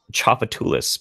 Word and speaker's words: Tchoupitoulas: __ ] with me there was a Tchoupitoulas but it's spelled like to chop a loss yeah sometimes I can